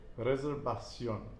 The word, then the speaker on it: reservación: I want to say v just like we do in English, but reservación.